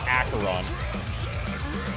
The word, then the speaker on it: Acheron: In case you were wondering, Acheron is pronounced Acheron.